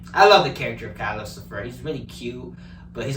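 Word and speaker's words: Calcifer: Calicifer, which is like Lucifer, but with the cow, who helps Howl.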